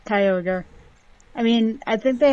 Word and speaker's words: Kyogre: another thing as well is Kyogre that's that's not how you say it it's Kyogre I mean I think